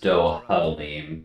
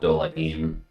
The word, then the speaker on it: Dohalim: So it is Dohalim, not Dolahim. And I think in my slurred speech patterns I've been going Dolahim. So whoops.